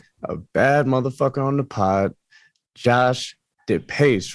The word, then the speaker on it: Depace: on the pod josh the pace right that's how you say it the pace yep you got it yeah that's a badass